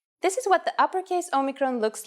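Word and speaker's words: όμικρον: letter for this lesson this is a vowel called Omicron which makes the sound o again this will look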